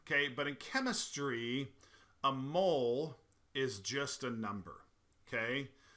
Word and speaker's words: mole: lives in the ground there's actually a different pronunciation for mole which is mole uh which is a a Mexican sauce made